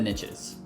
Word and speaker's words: niche: riches are in the niches which is why I say Niche because that rhymes with Rich um even though it's